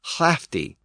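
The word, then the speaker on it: hlǣfdige: Loud was hlud, H-L-U-D, and lord was hlavard, H-L-A-F-O-R-D, and lady was hlafti, again spelled with an initial H-L.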